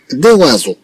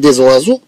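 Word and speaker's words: des oiseaux: طبعا كما تلاحظوا بأن الأصل في النطق أننا نقول ديوازو، أننا نقول ديوازو، ولكن كما تلاحظوا بأن ديزوازو تجي أحسن من ديوازو، تأتي أحسن من ديوازو. نقول ديزوازو إذن في النطق دياله أحسن من نطق ديوازو.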